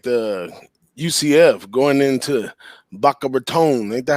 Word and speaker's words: Boca Raton: i i really like the ucf going into bachelor tone ain't that how you say it big ragu boca raton right there in the in the rat's mouth